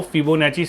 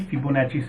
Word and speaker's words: Fibonacci: an Italian mathematician and in Italy double c i is pronounced as Chi so you might have